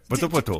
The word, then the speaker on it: Poto-Poto: Ouais, Poto-Poto. Tu peux le dire comme ça? Oui, Poto-Poto. Voilà, c'est un plaisir de le prononcer.